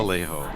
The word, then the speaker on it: Alejo: is Alejo. I go by that one. good. It's very, very easy to pronounce.